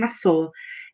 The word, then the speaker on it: masoor: And masoor is spelled Masoor.